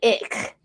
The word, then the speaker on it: Icke: It's spelled ick. It's Ike.